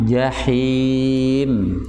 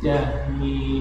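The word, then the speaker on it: جحيم: Jahim. Jahim. Nah, itu ha besar. Jahim. Jahim. Ha him. Him. Ya, him di tenggorokan di tenggorokan bagian tengah.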